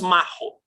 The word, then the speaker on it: Macho: Max Frisch e Thomas, Macho mesmo que se pronuncia? Não, é Macho. E Thomas Macho.